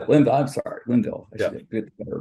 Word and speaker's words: Linville: It's Levine, right? The last name is Levine. Did I pronounce that right, Dr.? Linville. Linville. I'm sorry, Linville.